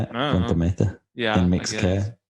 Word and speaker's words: Punta Mita: Punta Mita.